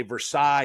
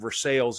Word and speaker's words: Versailles: French names of cities not always pronounced like they are in French as far as I know you say Versailles in France and versales and Kentucky um so